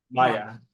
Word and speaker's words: Maya: Maya. You spell Yes. It's gonna be like the Mayan calendar, but just say with an A.